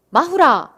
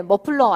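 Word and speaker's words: マフラー: 마후라. 네, 머플러 아니고 마후라. 일본식 발음으로 후 있었잖아요.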